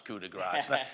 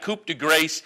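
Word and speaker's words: coup de grâce: The number 8 is Coup de Grace, and I know how to pronounce Coup de Grace. It's not Coupe de Grace, and I only bring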